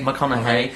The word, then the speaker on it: McConaughey: Matthew how do you pronounce his name? McConaughey.